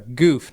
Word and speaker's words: Goof: Goof, not Goom.